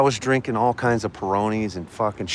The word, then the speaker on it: Peroni: And my buddy finally goes, "Dude, it's just like when you eat pepperoni pizza, okay, leave the pep out. It's a peroni, motherfucker."